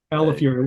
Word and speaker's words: Calafiore: So Calafiore. Well, I say in pronunciation, it's like California, but you get angry at the end. Fury.